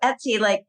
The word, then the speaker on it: Etsy: It's like Betsy without the B. But even so, Etsy, your brain needs something familiar to latch onto.